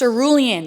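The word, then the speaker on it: cerulean: This is in the color Okay, I did not know this is how you pronounce it, but it's pronounced ceruan apparently according to Chad Dvt.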